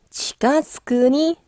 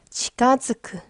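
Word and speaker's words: 近づく: 자, 후유니 치가즈쿠니 즈레테. 자, 치가즈쿠. 뭔가에 가까워지다. 동사예요, 여러분. 가져가세요. 치가즈쿠. 근데 이게 발음이 좀 어렵거든요. 츠에다가 땡땡이 붙었어요. 그렇기 때문에 발음이 어려워요.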